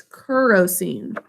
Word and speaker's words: kerosene: this one as kerosene it sounds like it'd be an a in that first syllable but it's kerosene kerosene is the way